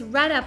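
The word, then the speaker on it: redd up: my family mispronouncing it I thought it was torrento I thought you first up when you rent up yeah it's read up but it does it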